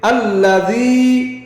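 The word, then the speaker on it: الذي: উচ্চারণ কি হবে? আল্লাযী।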